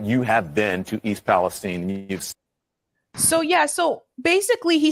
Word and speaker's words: Palestine: The residents of the town call it East Palestine. Okay. East Palestine with a a different sound to the eye.